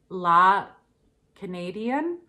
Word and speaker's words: La Canadienne: but it was by a brand, La Canadienne. Yeah, I think that's how you say it, but it's not spelled like Canadian, it's spelled slightly different.